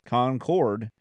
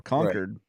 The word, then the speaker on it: Concord: so it's whether it's Concord which is the English like the queen's English version or conquered which is the northeastern version of Concord I prefer conquered because